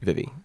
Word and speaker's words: Vivy: I mean, Vivy is a name that's short for Vivian, so I'm guessing that's how you say it. Vivy.